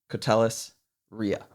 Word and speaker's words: Koteles-Riha: you that don't know this is catellis Ria did I pronounce that correctly you sure did yes okay